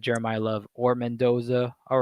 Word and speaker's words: Mendoza: either I think it's Jeremiah Love or Fernando Mendes, I think. Is that how you say it? Mendoza.